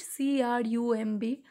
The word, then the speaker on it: crumb: Crumb, here also be silent, C-R-U-M-B.